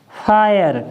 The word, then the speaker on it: FIRE: फिर चेंज हो जाएगा, क्योंकि आर आ गई और आर ने इसका उच्चारण फिर चेंज कर दिया। तो अब हम यहाँ पर क्या पढ़ेंगे? ए। जैसे FIRE, तो हम इसको क्या पढ़ेंगे? फायर।